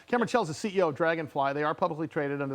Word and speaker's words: Draganfly: tells the ceo of dragonfly they are publicly traded under the stock symbol d-f-l-y-f uh you can go to dragonfly dragon is spelled with an a though so it's d-r-a-g-a-n fly uh you can go